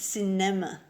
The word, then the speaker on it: cinema: Yeah, it's not like cinnamon. It's cinema.